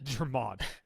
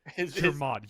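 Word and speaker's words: Jermod: German. Germod, you called Germod, god damn it, is dead.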